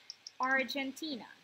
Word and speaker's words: Argentina: Argentina. Argentina. Argentina. Argentina. Argentina. Argentina. Mm-hmm. Yes, that's on the third.